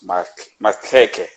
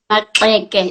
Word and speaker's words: Maxeke: Um, if it wasn't for your work, I would have not known much of Charlotte Mackeke. Is that how I pronounce it? Maxeke.